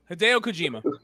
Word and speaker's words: Hideo Kojima: Hideo Kojima.